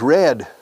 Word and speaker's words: read: El pasado es red, igual que el color rojo.